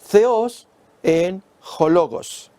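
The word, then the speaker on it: θεὸς ἦν ὁ λόγος: Pronunciado en el griego sería theos en hologos.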